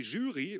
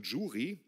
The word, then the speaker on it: Jury: Und wenn die Jury, oder wie viele auch sagen Jury, ich kenne sogar welche, die es Juri aussprechen, als wäre es ein russischer Kosmonaut.